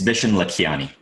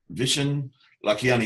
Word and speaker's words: Vishen Lakhiani: It's Vishen Lakhiani. Almost everybody messes that up. Vishen Lakhiani.